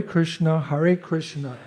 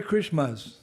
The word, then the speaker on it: Krishna: Hare Krishna, Krishna Krishna, Hare Hare, Hare. It's the Hare Krishmas. It's not Master, it's Na. Can you say it properly? Krishna. No, say Krishna. Krishna.